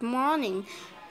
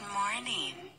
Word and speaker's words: morning: Good morning. Từ morning có nghĩa là buổi sáng, thì nó được nhấn vào âm đầu tiên bởi vì nó là danh từ. Good morning.